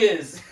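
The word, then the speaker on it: rizz: For those who don't know, he's saying rims even though it don't sound like. I'm saying rims. R-I-M-S, but that ain't no. How they pronounce Riz. R-I-Z-Z.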